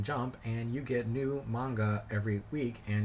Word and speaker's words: manga: decided to start doing a review of a manga every monday and yes i am pronouncing it manga because i was told that